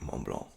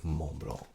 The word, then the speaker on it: Mont: M Blanc all right Mong Mong I'm trying to get better at that I've been told you don't pronounce the T or the C Mong and this is Legend